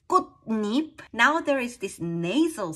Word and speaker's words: 꽃잎: In the compound nouns, if the second word starts with yi, ya, yo, yo, yu, that y glide, these are pronounced as ni, nya, nyo, nyo, nyo. It's just a pronunciation rule. So it becomes kutnip.